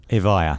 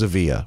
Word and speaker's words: Evija: are quite proud of will you pronounce it for me a vaya vaya yeah I thought it was a via okay I'm off you